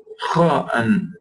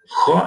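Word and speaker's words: خ: Kha. And Ghain, and you should try to pronounce these letters.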